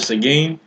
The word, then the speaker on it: Seguin: And I might not be saying it right, but Seguin. Sagan. He's Sagan.